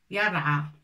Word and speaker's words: يرعى: Ça s'écrit comme ça normalement. Yara. On enlève ça, on peut le mettre, mais comme ça. A. C'est comme ça. Le A. D'accord? Yara. Fatha bien sûr, mais alif maqsoura.